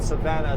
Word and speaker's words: Savona: spelled anything like how so it is everybody pronounces it Savannah these days thank you to whoever told me